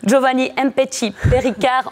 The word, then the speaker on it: Giovanni Mpetshi Perricard: Le Liégeois a commencé son tournoi en dominant le Français, attention pour la prononciation, Giovanni Mpetshi Perricard en 5-7.